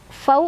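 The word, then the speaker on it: الفوز: Dzalikal fau, fau ada harf lin atau huruf lin karena ada waw sukun sebelumnya fathah, dibacanya dilunakan saja fau.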